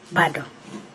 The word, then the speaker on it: Bado: Bado is B-A-T-O. Bado. B-A-T-O. Yes.